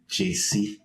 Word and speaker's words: Gyesie: way easier so the the African pronunciation is JC n JC JC but if you in amiz JC so think about JC like JayZ JC that's it Banana